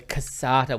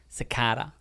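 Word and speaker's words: cassata: one the half rockmelon the casata was always the favorite and we used to pronounce it cicada I didn't you didn't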